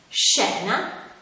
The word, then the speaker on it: scena: quello formato dalle lettere quando queste due lettere sono seguite dalle vocali e e si pronunciava come si esce quindi avrà un suono dolce come nelle parole sciatore scena e fish quando invece